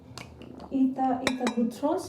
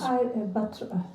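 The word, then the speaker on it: Ita Buttrose: Ita Butros is... Ida Buttrose. Okay, my pronunciation.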